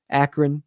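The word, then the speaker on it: Akron: Get Acron's turnover celebration there. Akran, I guess, is the proper pronunciation as people pointed out to me in the comments.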